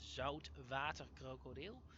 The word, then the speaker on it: zoutwaterkrokodil: It is like zoutwaterkrokodil, and yeah. That is how you pronounce that in Dutch.